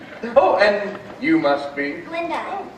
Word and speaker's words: Galinda: Glinda, the gut is silent.